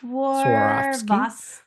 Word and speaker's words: Swarovski: pronounce it. I just know it has like a swan or something. It's Swarovski?